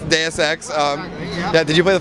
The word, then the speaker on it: Deus Ex: Kyle, you're the community manager for Deus Ex, is that correct? Have I got that right? That is correct, yes. And I pronounced it right, yeah?